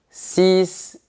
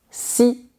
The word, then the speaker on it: six: Mais attention, quand tu as un mot qui commence par une consonne ou un H aspiré après, tu ne dois pas prononcer la dernière lettre. Par exemple, tu diras 6 personnes, 8 hiboux et 10 chaises.